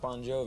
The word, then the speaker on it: Bon Jovi: So your actual name is Bon Jovi, isn't it? No, it's pronounced Bon Jovi. It's just the phonetics in Italian. The GI is the J sound.